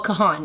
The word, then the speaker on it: Kahan: Anyways, Kahan, Noah Kahan. Yes, thank you, Marissa, for helping me pronounce it.